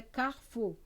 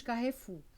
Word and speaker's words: Carrefour: é nem cai a sua pronúncia no francesa é Carrefour mas nós nós a portuguesa vamos Carrefour muito bem e aí